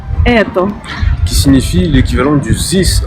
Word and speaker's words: Это: Donc pour la quatrième voyelle, il s'agit du E, ou comme le dirait une native, comme par exemple dans le mot eto, ou comme le dirait une native, Это.